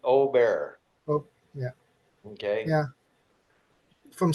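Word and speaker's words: Åberg: How do you say it? Ludwig Ober.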